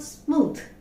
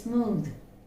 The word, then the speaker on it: smooth: We pronounce it smooth. It's not smooth, it's smooth. Smooth.